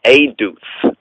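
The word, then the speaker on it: עֵדוּת: Or aduth, right? Aduth. It's pronounced and pointed as aduth, right? Or EDUWTH. And pronounced as not but as aduth, right? Because of the pointing and all of that.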